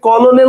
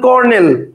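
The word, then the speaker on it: colonel: তিনটা কিন্তু প্রশ্ন হচ্ছে কলনেল তো আপনি উচ্চারণ করেন না আপনি বলেন করনেল একচুয়াল মানেটা কেন লিখবেন?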